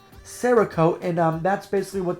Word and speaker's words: Cerakote: gorgeous um it's got cerakote i believe that's how you say it sarah coat and um that's basically